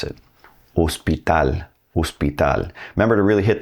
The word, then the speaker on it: hospital: H doesn't have any sound in Spanish. It is silent. So, when you see the word hospital in English and you